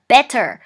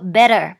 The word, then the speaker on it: better: เขา จะ พูด ว่า better Better ตัว T จะ ไม่ ออก เสียง ชัด เจน เท่า ไหร่ นะ คะ ถ้า เกิด ว่า